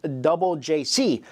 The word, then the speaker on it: JJCC: boy band called jjcc which is pronounced double JC which is doubled acronym